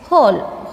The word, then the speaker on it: whole: in this word next whole whole whole here W is not sounding means w is the silent letter in this word next one knife knife